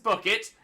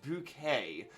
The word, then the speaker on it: Bucket: sag uh is Gator the daughter of Mrs bucket it's bouquet it's bouquet good reference there please